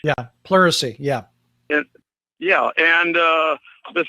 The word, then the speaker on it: pleurisy: policy and then when she gets sick from porter assist if i'm pronouncing it correctly mercy the poro membrane correct yeah pleurisy yeah yeah yeah and the thing is it's